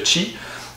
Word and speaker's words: Qi: charge par induction donc la norme çi qui s'écrit qi mais qui se prononce chi vous n'avez qu'à placer